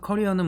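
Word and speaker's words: career: 그래서 링크든을 이용한 어 커리어 관리 여기서 커리어는 뭐 캐리어 커리어 뭐 이렇게 얘기하는데 캐리어만 할 때 그 캐리어고요. 뭐 발음은 커리어 사실은 코리아에 가깝습니다. 한국을 얘기하는 코리아, 커리어 뭐 거의 같은 발음이고요.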